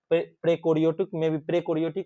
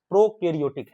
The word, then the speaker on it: प्रोकैरियोटिक: और कुछ प्रोटिस्टा और प्रेकोरियोटिक में भी क्या होता है, स्वपोषी पोषण होता है। प्रोकैरियोटिक है, सॉरी प्रोकैरियोटिक है ना, इसको पढ़ना सही से है, गलती नहीं पढ़ना उच्चारण में, ठीक ना।